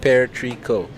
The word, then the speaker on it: Perico: Um, Gagakwan says, "You can also call it Perico, pronounced Pearico." Pear tree.